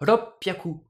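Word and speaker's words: 六百: 600, roku hyaku, on va prononcer ça ropyaku, la petite pause et l'accent. Pareil pour 800, hachi hyaku.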